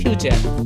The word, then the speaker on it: future: আসলে এটা উচ্চারণ করলে ফুটুরি হয়, কিন্তু আমাদের উচ্চারণ করতে হবে ফিউচার।